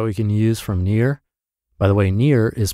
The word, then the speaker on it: Nir: practical tips that we can use from from Near by the way near is spelled n iir and his site is spelled